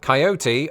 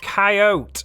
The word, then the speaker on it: coyote: each of those occasions I never fail to pronounce it with three syllables but as I discovered